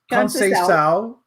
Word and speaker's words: Conceição: Her name is Conceição, which is Portuguese / Brazilian.